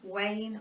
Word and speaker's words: Wein: is by Elizabeth Wayne I think it's pronounced w ein Wayne horween and this is